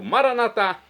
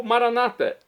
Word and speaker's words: Maranatá: E agora eu clamo Maranatá do aramaico, dialeto de Jesus ou Maranata, como dizem nossos irmãos, separados das comunidades evangélicas ou protestantes. Não importa a pronúncia, o significado é o mesmo.